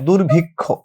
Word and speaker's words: দুর্ভিক্ষ: আছে আমরা যদি বলি দুর্ভিক্ষ দুর্ভিক্ষ এভাবে যদি হচ্ছে সমীক্ষা বলি তো শব্দের মাঝে হইতে পারে শেষে হইতে পারে শব্দের মাঝে শেষে হলে উচ্চারণটা ক খ এর মত হবে তো এখানে যেটা আছে